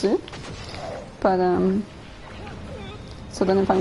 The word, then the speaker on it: Ys: you know, I think my first thought is YS and not Izu. But yeah. And then technically if they want to pronounce it that way, then they should do Izu and not Is. Because that Is is actually not the right pronunciation, it's Izu.